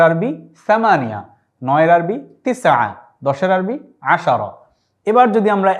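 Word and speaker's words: عشرة: আশারা শব্দের অর্থ হচ্ছে 10, এটি আমরা উচ্চারণ এখানে লিখেছি এভাবে আশারা।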